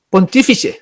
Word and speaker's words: Pontífice: Al emperador se le llamaba en Roma el Pontífice Máximo, Pontífice, así se pronuncia, y que se arrojó el Papa ese